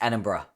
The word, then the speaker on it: Edinburgh: It's Edinburgh.